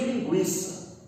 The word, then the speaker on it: linguiça: A pronúncia lá, fonética, o trema ele é imortal. Eu só não escrevo ele graficamente. Então eu não posso pronunciar aguentar, cinquenta, linguiça. Eu não posso pronunciar. Eu pronuncio linguiça.